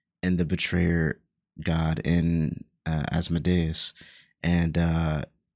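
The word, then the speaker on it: Asmodeus: lord of the hell asod is how you say it I thought it was osmodius so yeah asadas but I was correct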